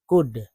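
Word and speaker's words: could: देखिए इस तरह शी कुड, सी सी से क, सी ओ से क, ऊ से ऊ, एल नहीं पढ़ना है, डी, डी से एल साइलेंट हो जाता है, ठीक है।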